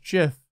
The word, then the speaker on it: gif: fun ah the puns gif is now pronounced jiff I need to know